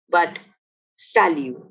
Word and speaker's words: salut: hello mind you that in french the last letter of a word is usually not pronounced so we don't say salute but salu you would have also